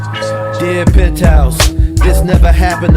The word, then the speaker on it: Versace: It's a Versace. It's Versace. What? Versace. It's pronounced Versace.